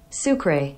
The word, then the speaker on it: sucre: one thing let's see how to say it sucre sucre I knew I was saying that wrong